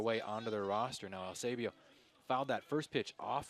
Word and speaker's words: Eusebio: Talked to him before the game and asked him how to pronounce his name. He said, you know, it's EU, but it's really Eusebio, which a good kid, loves playing for Miami.